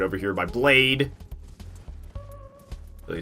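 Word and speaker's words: Blaidd: is did some research blade is Welsh for Wolf and they do indeed pronounce d d as t h a i as I yeah but like got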